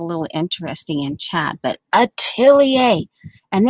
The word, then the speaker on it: atelier: interesting in chad but atelier and then you have to say it fast once you get that atelier atelier atelier okay so there we